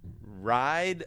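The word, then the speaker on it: Rye'd: Ride the Lightning. A ride is spelled R-Y-E apostrophe D, like rye.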